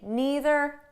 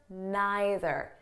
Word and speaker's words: neither: want you know that the pronunciation is flexible so you can say neither neither either either okay there's no difference i might even change